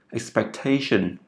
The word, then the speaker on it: expectation: Và cụm từ expectation, cho âm rơi vào chữ T, expectation.